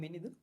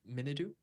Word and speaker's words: Minidu: So I'm Minidu. I'm from Sri Lanka. Right now I have 2 years of experience in design, and It's right so now I'm it's Minidu. yes, it's Minidu.